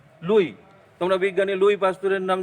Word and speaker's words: Louis: তাহলে দেখো এখানে কিন্তু লেখা আছে লুইস, LOUIS, লুইস। এখানে এস কিন্তু সাইলেন্ট, অর্থাৎ এস এর উচ্চারণ আমরা করব না। লুই, তোমরা বিজ্ঞানী লুই পাস্তুরের নাম জানো, কখনোই লুইস